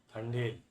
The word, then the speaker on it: Thandel: तंडेल। ठंडेल इस तरीके का प्रोनाउंसिएशन है इसका, और इसका मतलब होता है एक तरीके से लीडर, जो मछुआरों का लीडर होता है।